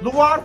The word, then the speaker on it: LUVOIR: LUHAR Fransızca telaffuz ediliyor.